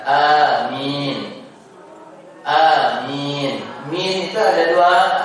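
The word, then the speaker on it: آمين: Kemudian kemarin sempat mungkin sebelumnya saya mengingatkan tentang pengucapan amin. Maka yang lebih tepat itu adalah a-nya gak terlalu panjang cukup dua harakat. Amin.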